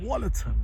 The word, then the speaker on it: Wollaton: Wollerton, it's pronounced Wollerton Park.